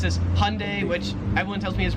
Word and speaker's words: Hyundai: Here they pronounce it as hyundai. Americans make it like two syllables like hyundai. Australians three syllables hyundai.